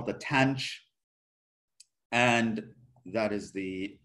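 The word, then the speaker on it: tanh: x divided by cosine x you get the tangent of x we have something called the tange that's how it's pronounced this is the hyperbolic tangent it's just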